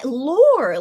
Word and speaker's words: lore: I can't even but I call it lur maybe it's a mix of British and American anyways but lore lore still feels weird to me even though that's the correct American pronunciation but yeah that feels weird to me I I feel more comfortable calling it lur which is yeah it's kind of similar to the British one right anys I shouldn't